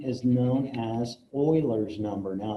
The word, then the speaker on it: Euler: e is known as Oiler number now it looks like Euler but is actually pronounced Oiler so this is Oiler number he he's a